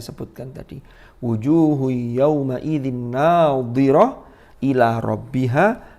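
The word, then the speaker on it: ناضرة: Wujuhu yawma idzin nadhirah ila rabbiha nadhirah. Ini jangan kebalik. Yang pertama menggunakan dhad, yang kedua menggunakan dha.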